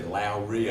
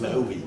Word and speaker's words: Lowy: I always say Lowry. I thought there was a R. There's no R's. There's Lowy. It's spelled funny.